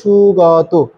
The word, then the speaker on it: সুগত: এটিকেই সুগত বলা হচ্ছে এটা আমি উচ্চারণ করব সুগাত কারণ আমাদের কেন গা হবে এটা আমরা পূর্বেই বলেছি এবং এখানে যে ওকারটা বসেছে এটাও কিন্তু কঠমায় একবচনে কর্তৃকারকের জন্য বসেছে। সেজন্য আমরা সুগাত এটা দীর্ঘভাবে উচ্চারণ করতে হবে।